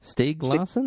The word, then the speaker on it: Stieg Larsson: Is it Stieg Larsson? Stieg Larsson? Is that how you pronounce it?